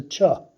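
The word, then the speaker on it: ч: a regular wire but it's a Chuck as in church and so um the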